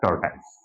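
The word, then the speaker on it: tortoise: Next, the hair and द टॉर्टाइस। अब देखिए, the hair and द टॉर्टाइस, इसे टॉर्टस भी पढ़ सकते हैं, टॉर्टस भी इसका मतलब प्रोनाउंसिएशन है।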